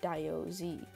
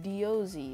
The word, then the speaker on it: Diozzi: I wouldn't be the Diorite guy, so I would name myself Diozzi. If you're wondering, yes, it's not pronounced Diozzi, it's pronounced Diozzi.